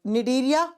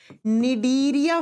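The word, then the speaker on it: Cnidaria: दो नंबर पर आएगा डीरिया फाइलम डीरिया या सिलेंट्र भी कहते हैं अब देखो इंग्लिश में सी से लिखा जा जाता है और ज प्रोनाउंस करते हैं तो एन से इसी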